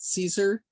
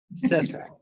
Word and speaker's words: Cesar: Is that how you pronounce it, Caesar? Cesar. Okay, Cesar.